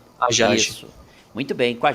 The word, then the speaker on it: Hajaj: Certo, então, né, doutor Daniel Romano, a pronúncia certa é Rajaj. Isso? Ajaj, é como se não tivesse o né? H. Ajaj.